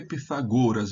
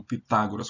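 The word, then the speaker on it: Πυθαγόρας: Então vamos lá primeiro Por que pitagoras e não Pitágoras como a gente diz em português porque a regra do grego de acentuação é chamada regra da última sílaba se a última sílaba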